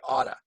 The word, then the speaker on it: ought to: And pronunciation, usually I say oughta. You ought to do that. You ought to call me. You ought to work. You ought to work harder. You ought to quit that job. You oughta. You oughta. You oughta. That's the typical pronunciation.